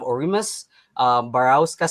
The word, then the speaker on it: Orus Barasa: is attorney's death match we have orus barasa sorry if I butchered your name sorry absolutely perfect pronunciation so yeah all good